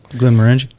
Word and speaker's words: Glenmorangie: screw this name up, but how do you pronounce that, bro? I'm half in the bag. Glenmorangie?